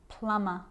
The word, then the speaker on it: plumber: me i'm not pronouncing the b i'm just pronouncing the m consonant sound climb crumb lamb thumb dumb plumber and the letter b is often silent when